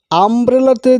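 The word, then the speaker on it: umbrella: আমব্রেলাতে দেখুন ইউটা আয়ের মতো উচ্চারণ হচ্ছে, আমব্রেলা আ, মানে প্রথমে ভাওয়েলের মতো উচ্চারণ হচ্ছে।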